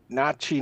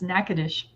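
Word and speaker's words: Natchitoches: Nachi. No cheese. No. Nachi. Nope. Nak nakois. Nackad. It's nacadish.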